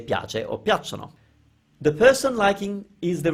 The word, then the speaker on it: piacciono: Check your pronunciation of piacciono, piacciono, don't say it any other way, and remember the definite article for when you like nouns.